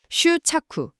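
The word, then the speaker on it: 執着: 그 휴착후라는 표현을 쓰죠. 일본어 발음인데 집착 딱 달라붙어서 떨어지지 않는다는 뜻이거든요. 이게 강연에서 아주 중요한 개념이에요. 슈착쿠 집착.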